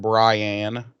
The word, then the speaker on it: Brian: But yeah, she's going to be going on a date with this feller named Brian, and that's how he pronounces his name, is Brian. Brian, yeah. And BRY-ANN. Right. ANNE, right. Brian.